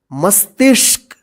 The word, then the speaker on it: मस्तिष्क: शरीर में ही स्वस्थ मस्तिष्क देखि य म आधा स त त में क्या है छोटी की मात्रा फिर य प अर्धा मुर्धन फिर य प क इसको क्या पढ़ेंगे मस्तिष्क ठीक है इसको ध्यान